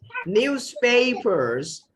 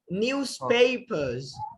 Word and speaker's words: newspapers: In the British accent, newspapers. Okay? Okay, sir. But if you want to pronounce it thoroughly in the British accent, then you also have to silence the R, okay? Newspapers, newspapers.